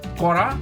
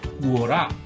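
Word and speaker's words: Quora: Come to know that this word is pronounced as कोरा एंड नॉट कुओरा.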